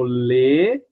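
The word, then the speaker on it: les: Já no plural a gente fala lê aberto, ó. Lê. Lê serpã.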